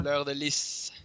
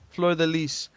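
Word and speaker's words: fleur-de-lis: Saints de Fleur. I think that's how you say it. I'm not too sure. Fleur de Lis. Fleur de Lis. There we go.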